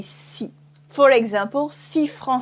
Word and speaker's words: six: in concern after its you remove the S at the end so we just say see for example see from